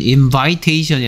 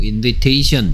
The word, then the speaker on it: invitation: 명사형일 땐 invitation이 아니고 invitation. 이렇게 I가, 똑같은 I가 E 발음 만납니다.